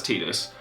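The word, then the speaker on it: Tidus: him however he's actually pretty solid and that's tetus or Titus or however you want to pronounce it I'm pretty sure it's tus and I pronounce it wrong sometimes but he's a 9k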